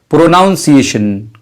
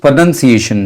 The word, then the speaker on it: pronunciation: बहुत से लोग इस लफ्ज़ को प्रोनंसिएशन को प्रोनाउंसिएशन कहते हैं, जो कि गलत है। सही तलफ़्फ़ुज़ प्रोनंसिएशन है, प्रोनंसिएशन।